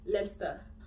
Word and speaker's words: Leicester: It's Leicester. Leicester. Leicester. Leicester. Leicester. Leicester. Leicester.